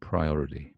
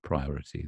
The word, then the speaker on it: priority: Here's the British pronunciation, priority, priority. The backward A is a kind of slack O sound, as in A, I, U, E, O, O, O, O, O.